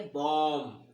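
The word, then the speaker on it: bomb: बी होता है ना, एम के यदि तुरंत बाद बी होता है तो बी का उच्चारण वहां पे हम नहीं करते। किसका नहीं करते, बी का उच्चारण नहीं करते। कैसे नहीं करते तो देखो, जैसे बी ओ एम बी, तो एम के बाद देखो बी है ना, तो इसको क्या पढ़ेंगे, बॉम।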